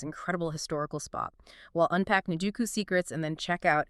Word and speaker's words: Nijuku: Kasushika's Shinjuku isn't Shinjuku. It's pronounced Nijuka. Nijuku. Nijuku.